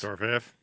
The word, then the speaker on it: Dorofeyev: Dorofeyev.